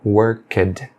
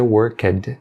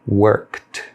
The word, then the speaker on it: worked: de ed, por exemplo, worked, worked. Você não pronuncia worked, você deve pronunciá-lo com um som sutil de T, worked.